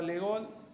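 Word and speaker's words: de Gaulle: primera vez entrar a la Unión Europea estaba legol así se pronuncia el de Francia estaba el presidente francés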